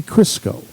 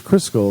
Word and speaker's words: Cristo: The Count of Monte Cristo. Right? Cristo. Cristo? Yeah. I thought it was Crisco, like the oil. No.